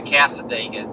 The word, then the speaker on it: Cassadaga: and casa dega man make sure we pronounce that properly and that is how you pronounce it we we asked we have confirmed with the locals kind of like talladega cassadaga the indigenous peoples uh gave